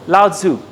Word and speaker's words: Lao Tzu: Have you heard of Lao Tzu? I'm not sure I'm pronouncing the name correctly because it's pronounced in many ways, but he's a philosopher.